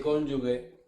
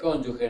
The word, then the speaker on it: cónyuge: Bueno, un abogado que dice cónyugue, doctora, doctora es cónyuge, ¿no es cierto?